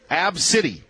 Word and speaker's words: ABCDE: Yes, that is the child's name, pronounced Absidy. Absidy lives with epilepsy, and her family pre-boards the flight.